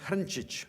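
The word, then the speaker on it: Hrnčić: It's originally in Croatian pronounced Hrncic, which is a tough one, I guess.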